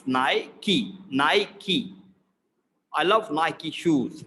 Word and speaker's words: Nike: brand it is nike in the british pronunciation it is nike it is not nike it is naiki naiki i love nike